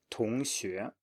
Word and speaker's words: 同学: But when you get to these, make sure you actually pronounce them as 2, identical tones. So 同学, 同学.